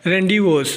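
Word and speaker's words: rendezvous: इसी तरह आगे हमारे पास जो लफज़ है वो है रेंडवस। रडीिवस में जेड साइलेंट है।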